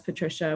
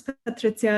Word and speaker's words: Patrycja: years of my life letting people mispronounce it as Patricia when I was younger. And then, you know, moving away and being like, no, it's Patrycja, and just like making people pronounce my name.